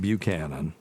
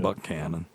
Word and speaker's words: Buchanan: It's not Buchanan. Yeah. Buchanan. That is very true.